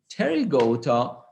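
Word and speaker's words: Pterygota: fleas and silver fish terry goto now you don't see the p you don't say it but you uh spell it okay so terry go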